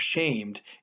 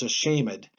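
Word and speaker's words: shamèd: This little accent mark there, this little backwards one, that means that we're going to pronounce that as a syllable. So it's not shamed, it's a shamed. He does that whenever he wants to buy himself a syllable.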